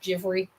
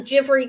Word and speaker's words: Givry: Givry, I call it, but I believe it's pronounced Givry. I Googled it for the pronunciation.